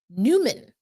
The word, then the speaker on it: Nyman: Yan's last name incorrect Newman is how he pronounces it according to Jeff Baker I'm looking at his